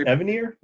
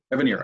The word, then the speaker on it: Evanier: How do you pronounce it, Mark? What's his name? I think it's Evanier. Evanier.